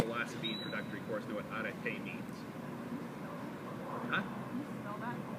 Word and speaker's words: arete: Anybody from a philosophy introductory course know what arete means? Huh? Alpha rho epsilon tau eta, with an accent on the eta.